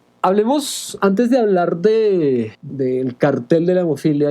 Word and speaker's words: Kartell: Bueno, tiene un origen alemán y la palabra alemana es cartel. Básicamente se pronuncia igual, pero se escribe Kartell.